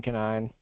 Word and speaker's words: Conine: It's Canine. I posted it in the chat, but it's Canine. So Canine is spelled Conine.